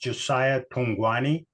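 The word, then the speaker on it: Josia Thugwane: And Josiah, sweet little man that he is, his name is pronounced Josia Thungwane.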